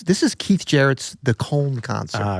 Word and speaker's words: Köln: It inspired me to wear some cologne. Oh, I get it. It's actually pronounced col.